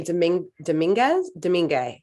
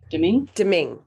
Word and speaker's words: Domingue: Yeah, and especially because their backup goalie, Louis Domingo. How do you say it? Domingue.